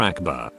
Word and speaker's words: akbar: two psycho power also pronounce it properly it's not pronounced like all but closer to ulcem goes for akbar if you ack you screwed up closer to akbar you're welcome protect your